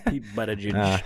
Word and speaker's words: Buttigieg: It's pronounced boot though.